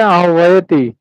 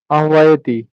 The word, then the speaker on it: आह्वयति: না, এটা মনে হয় হচ্ছে, এটা দাদা উচ্চারণ কি হবে? आभयति হ্যাঁ, ওটা আছে আহ্বায়তি। আহ্বায়তি।